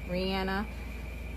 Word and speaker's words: Rihanna: I think she in multiple interviews said her name is pronounced Rihanna.